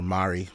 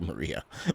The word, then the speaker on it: Mari: man uh uh or Mari I know I call you Maria my bad I always get your name messed up pronouncing it but I know it's Mari trunks anyways uh you